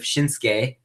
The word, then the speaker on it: Shinsuke: and it turns out I called him shinuki instead of shinsuke I've been saying his name wrong the whole time thank you NXT takeover